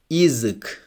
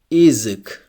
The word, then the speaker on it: язык: If the letter Ya is unstressed, it's also pronounced like E. For example, язык. Язык, it means language. Here the first letter Ya is unstressed, so it's pronounced like E. Язык.